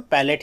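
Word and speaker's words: palette: ये क्या है, पैलेट, और इसे भी क्या पढ़ेंगे हम, पैलेट ही पढ़ेंगे। यहाँ पे स्पेलिंग में डिफरेंस क्या है, ये LATE है, ये क्या है, LETTE है।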